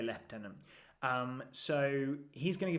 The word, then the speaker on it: lieutenant: fifth character is the as we say in England the leftenant or Lieutenant if you are from the states not sure how other places pronounce it but yeah we're going to say left Tenon um so he's going